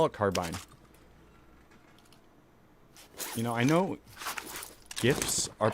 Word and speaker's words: GIF: creator of uh the jiff file format says it's jiff like he's wrong he should have spelt it with a j oh see those are